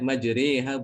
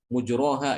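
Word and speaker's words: مجراها: Itu dibacanya majriha bukan mujroha ya, atau bukan majroha ya. Juga bukan majriha, tapi tengah-tengah. Majriha ya.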